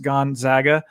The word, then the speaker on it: Gonzaga: you guys haven't heard him it's gonzaga uh pronounced gonzaga and um yeah so that's who i that